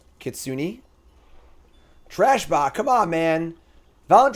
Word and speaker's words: Kitsune: The E at the end is pronounced. Kitsune.